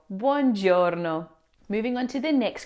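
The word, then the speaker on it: buongiorno: Many English speakers tend to pronounce the first part as bon, but both the u and o must be pronounced blending into a smooth ban sound. So we say bjouro bjouro.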